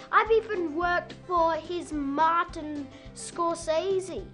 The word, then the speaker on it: Martin Scorsese: I've even worked for his Martin Scorsese, It's actually pronounced Martin Scorsese.